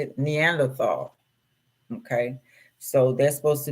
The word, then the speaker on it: Neanderthal: They saying right, and then we got the Netherland. How do you say it? Neanderthal.